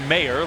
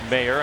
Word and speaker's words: Mayer: his last name m-a-y-e-r people ask how do you say that you say it mayor like mayor and so the way